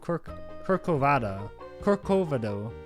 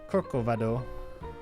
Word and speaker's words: Corcovado: Standing at the top of the 2,037-foot peak of Corcovado. That's not how you say it. Corcovado.